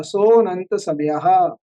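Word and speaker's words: सोऽनन्तसमयः: सो को हल्का सा प्लुत करके नंत समयः, सोनंत समयः, इस प्रकार से सूत्र का उच्चारण होगा।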